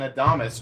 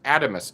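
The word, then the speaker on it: Adamas: he pronounced it adamus give me a one in the chat if you've pronounced it adamus and a two in the chat if you've pronounced it atomus over the years i have been pronouncing it adamus i think we might have been wrong guys i think all of us ones might have been wrong um apparently this is atomos i don't know maybe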